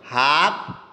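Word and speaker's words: half: देखिए बोल रहा हूँ, हाफ शब्द के उच्चारण में कौन सा अक्षर मुख है। हाफ, देखिए हाफ, इसमें एल है। एल का उच्चारण आप नहीं कर पा रहे हैं तो आपका आंसर हो जाएगा ए नंबर।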